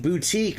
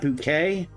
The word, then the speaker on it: boutique: He would say electronic bouquet. I I always told him I'm like, "Dude, they don't sell flowers. It's electronic boutique, not bouquet.